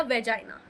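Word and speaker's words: vagina: जिसमें हमारा सर्विक्स और वैगिना प्रेजेंट होता है या वाइना। ओके? आप जैसे भी जो भी प्र आप प्रोनाउंस कर सकते हैं वाइना बोलिए या वैगिना बोलिए। ठीक है? दोनों ही मतलब सेम होता है।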